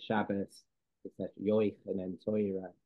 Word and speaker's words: Shabbos: So are you familiar with the tav and how it becomes a S sound, like bass or Shabbos?